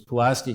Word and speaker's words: Pulaski: up these were operating was Pulaski County that's the way you pronounce it and I've contacted the